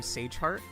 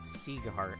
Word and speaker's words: Siegheart: Okay, don't burn me at the stake, but I've always pronounced his name Sageheart, but it's Siegheart, apparently.